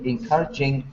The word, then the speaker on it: encouraging: Yes, it's not very encouraging. I agree. Okay, good. Sorry, teacher. Encouraging. 4 syllables. Yeah. Listen to my pronunciation and then tell me which is the stress. Encouraging. Encouraging. Yeah, second.